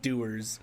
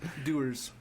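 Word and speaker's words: Dewar's: it's correct pronunciation but I've always heard it referred to as doers doers like people who do things yeah but it's spelled ee w AR apostrophe s and it's a white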